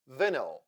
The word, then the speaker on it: vinyl: Vinyl. The second syllable is unstressed here, and that is why Y also sounds like vinyl.